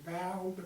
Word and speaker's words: Valdosta: One of them name was Valdosta, V-A-L-D apostrophe Osta, A-O-S-T-A, pronounced Valdosta.